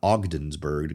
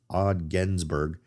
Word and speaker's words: Ogdensburg: ogens OG yeah odenburg it's not ogdenburg it's Ogdensburg massina New York I I